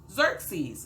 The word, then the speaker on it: Xerxes: ah not really hilarious but let's just learn xerxes okay xerxes xerxes that's how it's hanging how you pronounce that word xerxes all right so uh